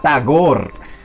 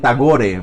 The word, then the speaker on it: Tagore: poeta que se llama tagor aquí en Colombia dicen tagore pero bueno la r no hay que pronunciarla está gorra bueno está